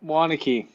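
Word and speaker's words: Waunakee: Okay, I'm gonna have to ask you how to pronounce that. Is that Wanaki or? Yep, Wanakee.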